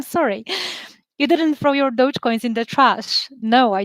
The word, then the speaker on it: Dogecoin: is my cousin and is that how you pronounce dogecoin i always pronounced it the same way as